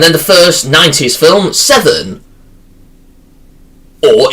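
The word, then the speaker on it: Se7en: And then the first 90s film, Seven. Or, if you prefer to pronounce 7N. Because how it's stylized.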